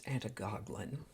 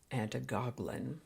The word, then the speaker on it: antigoglin: Today's word is Antigoglin. The Word a Day Archive spells it and pronounces it Antigoglin with a D, but I've always heard it as Antigoglin.